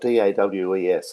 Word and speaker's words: Dawes: And there's a band out of California, and forgive my pronunciation, it's spelled D-A-W-E-S, and I know you pronounce it a little differently.